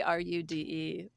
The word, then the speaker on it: Roode: named John Roode and it's spelled r o o d but basically Ru D also he went with